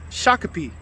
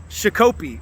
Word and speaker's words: Shakopee: Well, today I learned that this town is pronounced Shakopee, Minnesota, and not Shakopee, like I was calling it in my previous video when I was making this delivery.